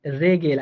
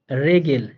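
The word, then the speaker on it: Regel: হ্যাঁ, আরো যদি বলেন রেগেল, আরো একটা বললে আর ই, আরেকটা লিখি, আরে ভাই আরেকটা বললে আপনি আর ই জি ই এল, রেগেল। হ্যাঁ দেখেন এখানে আরটাও কিন্তু র এর মতো করে উচ্চারিত হইতেছে, রেগেল, হ্যাঁ দুইটাই নাউন।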